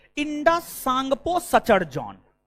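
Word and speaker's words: Tsangpo: trans Himalaya को बहद हिमालय से अलग आईटीएस जेड आईटीएस Z full form होता है Indus सांगपो Sachar John T silent है टी साइलेंट है इंडस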